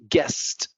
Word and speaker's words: guest: Guest. The U is not said here. Guest.